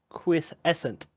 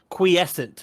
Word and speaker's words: quiescent: or whoever I'm pointing out it's also called quis essent it's the state of a state and period